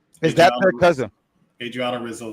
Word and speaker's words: Adriana Rizzo: that could be on Adrian Rosazzo. That's her name. Is that her cousin? Adriana Rizzo is how that's pronounced.